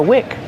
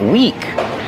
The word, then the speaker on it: wick: Every candle has a wick. Pronunciation, wick. Use the short is sound like this is. This is the wick of the candle. Wick. Not weak with a long E like green beans.